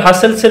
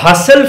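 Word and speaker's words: Husserl: কলিয়ারতো চল আমরা এবার হাসেলসের ফিলোসফিতে যাইতো হাসেল ফেনোমেনলজিকে যখন ব্যাখ্যা করে হুসেল বা হাসেল আমরা যাই প্রোনাউন্সিয়েশন করি না কেন সেটা ঠিক হবে তো হুসেল যখন তার ফেনোমেনোলজির থিওরিটা দিয়েছিল।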